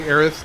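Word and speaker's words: Aerith: Similarly, Aith's name is supposed to sound like Earth.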